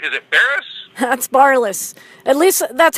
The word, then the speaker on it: Barlis: daily lives what I introduce to you Barrett is it Ferris that's barliss at least that's how my mom says it's pronounced oh god yeah second time I believe